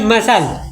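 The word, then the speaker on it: muscle: एम यू एस सी एल ई यह का पढ़ाई मसल, ठीक है। और मीनिंग में साइलेंट लेटर, ठीक है।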